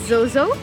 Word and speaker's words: XOXO: My dog's name is Zozo. It's spelled as XOXO.